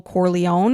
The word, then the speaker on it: Corleone: But one of the main characters is Michael Corleone, and I'm hoping I'm saying that properly.